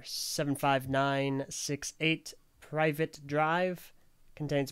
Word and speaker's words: Privet: eight private drive contains boxer voice literally how it's spelled private yeah no I figured it was privet Drive but I wasn't gonna risk it and sound like an idiot so I'm just going to say it how it is spelled that contains approximately 797